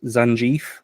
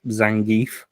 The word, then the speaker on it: Zangief: Uh, it could be it could be pronounced Zanie, but I think it's Zangief.